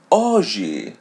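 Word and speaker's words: hoje: So it is silent when it comes in the beginning of the word as word oi oi. Oji means today oi. So here we don't pronounce the letter h.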